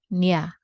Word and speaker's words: niya: So this is pronounced niya.